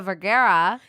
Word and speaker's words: Vergara: Okay, last one I'll talk about, because I love her and him, is Sofia Vergara. Yes, that's how you say it.